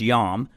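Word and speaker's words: iam: often in Latin text you would see the word J aam jam it was actually pronounced yam and uh today they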